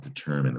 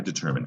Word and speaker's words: determine: Like I determine 5 o'clock is quitting time. Determine seems like it should be pronounced determine with that silent E, but it's determine, and that's because it came to us through French.